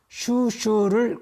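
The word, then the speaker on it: 蜀黍: 촉서의 중국식 발음인 슈슈를 그대로 따라서 이름을 지은 겁니다.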